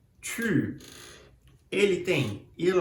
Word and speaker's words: tu: Você faz a boca do U em português, mas pronuncia o I no lugar. U, tu.